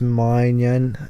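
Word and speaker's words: Maignan: go the Milan goalkeeper I think it's mine Yen that's who you say his name you could go over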